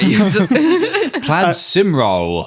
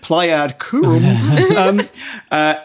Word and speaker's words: Plaid Cymru: Can't pronounce them. Yeah, it was just Plaid. Lie. Plaid Cymru. Pleiad Curum.